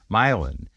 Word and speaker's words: Milan: called milin Ohio and milin is spelled like Milan Italy but it's called milin if you drove through